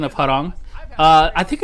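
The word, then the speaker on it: Hwoarang: mean but uh yeah i always pronounce it harang uh i think that's how most koreans pronounce it or uh most americans would say how wrong how long um or bob you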